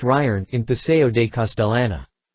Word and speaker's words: Gijón: Artists and actors gather at Gijón, pronounced Ryern, in Paseo de Castellana.